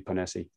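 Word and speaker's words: Ponesse: listened to a public speech by dr julie panesi that's the pronunciation yes yeah she's a fantastic lady i've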